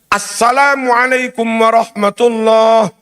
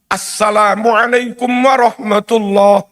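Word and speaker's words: السلام عليكم ورحمة الله: Anda tidak bisa membaca "assalam" hanya sebagai "salam", itu tidak diperbolehkan. Seharusnya: " Innaka hamidum majid". Assalamualaikum warahmatullah. Assalamualaikum warahmatullah.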